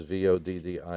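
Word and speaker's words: Voddie: Last name is spelled Baucham, and Vadi is Voddi.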